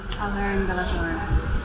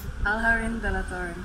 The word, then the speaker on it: Alhaurín de la Torre: Alhaurín de la Torre. Again? Alhaurín de la Torre. There we go. Perfect Spanish pronunciation from the local Mancunian.